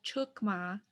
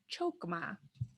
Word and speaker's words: chokma: And then mouth wide open, ah, chukma, chukma. Great, now you've got the correct pronunciation of chukma. It's not chokma.